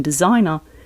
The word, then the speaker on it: designer: And in designer, the S shifts from an unvoiced S to a voiced Z.